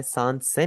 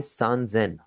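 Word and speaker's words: 三千: 3000 आपका थोड़ा सा चेंज हो जाएगा, आप इसे सान सेन नहीं बोलेंगे, आप इसे बोलेंगे सान जेन।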